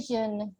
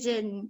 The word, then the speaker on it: jeûne: Rompre les jeûnes. Les jeûnes. Les jeûnes. Les jeûnes. Atau yang lebih mudahnya la rupture. La rupture Des jeûnes. des jeûnes. Jeûne. Jeûne. Kalau J itu biasanya pengucapannya Z. Jeûne.